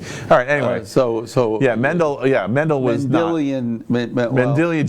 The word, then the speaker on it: Mendel: about yeah yeah alright well anyway that guy Mandel thank you Mendel sorry hey I was phonetically right it was close I was close